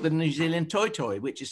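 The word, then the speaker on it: toetoe: new zealand where it's called the new zealand toy toy which is spelled t-o-e-t-o-e um and then when i later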